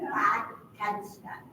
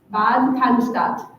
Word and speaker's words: Bad Cannstatt: Bad Cannstatt. Bad Cannstatt.